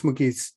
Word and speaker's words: Mugees: outpouring for wouldi do you pronounce your name with a hard G or a soft G it's a mugis m okay M um